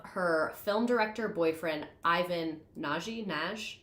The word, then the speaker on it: Nagy: She met Madame Alex because of her film director boyfriend, Ivan Nagy. I think Naj is how they pronounced it in the movies I watched.